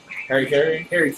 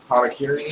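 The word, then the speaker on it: hara-kiri: No, like Americans call it like Harry Carey, but isn't there a real pronunciation? Harakiri?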